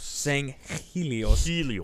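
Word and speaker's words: Sanghelios: is on swords of sangos sangos sangos helos the g is silent yes uh you'll come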